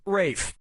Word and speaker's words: Ralph: fein's first name is spelled like ralph but pronounced rape and his brother joseph finds is pronounced joseph